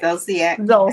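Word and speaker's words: Zolciak: Ziac.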